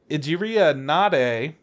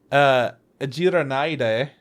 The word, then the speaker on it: Ijiranaide: Ijiranaide. I'm going to say that that's not at all how you pronounce it, but Ijiranaide. There we go. That's more correct.